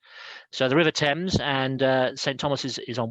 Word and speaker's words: Thames: river thames it's not thames the th is not pronounced thames it's pronounced thames so the river thames and saint thomas is